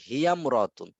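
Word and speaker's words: هي امرأةٌ: তাহলে ইমরাআতুন আলিফটি শুধু লেখায় আসে, উচ্চারণে আসে না।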